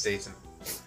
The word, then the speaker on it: Dayton: Oh, isn't Dayton? I think that's actually how you say it. Yeah. The man who's always fooling around with his computer here? Wait, was I saying Dalton? Dalton, yeah. Oops. It's Dayton.